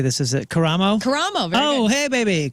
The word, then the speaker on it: Karamo: Karamo.